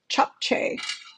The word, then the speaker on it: japchae: noodles better known as chop some people pronounce it differently but I actually listen to it on Google and it it does say to pronounce it chop so if you've heard